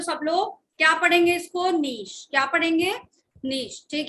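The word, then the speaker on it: niche: ये वर्ड का प्रोनाउंसिएशन क्या है? सब लोग अलग अलग करते हैं, बट नीश इज the correct word.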